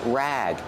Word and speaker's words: rag: it's a dish rag pronunciation rag use a short a sound like black cat this is a dish